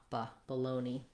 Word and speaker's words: bologna: and then we have the letter a just says baloney you can also try